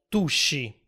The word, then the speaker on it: Tusci: Beh, forse riuscite già a intuirlo, ma il termine Etruschi a un certo punto si è contratto in Tuschi, che oggi noi italiani pronunciamo Tusci.